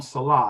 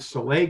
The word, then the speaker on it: Saleh: Saleh. That's what I thought. I'm hearing a lot of people call him Salah, and I thought it was Saleh.